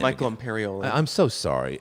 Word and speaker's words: Michael Imperioli: Michael Imperioli.